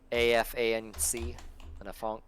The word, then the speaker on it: afanc: With your mono, it's called a franc, AFANC, a fanc. Spell that again.